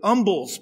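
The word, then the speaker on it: umbles: based on is actually umbels pie the H is not pronounced it's a meat pie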